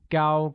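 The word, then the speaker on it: 高: while tall translates as Gao Gao with a high level tone on a note that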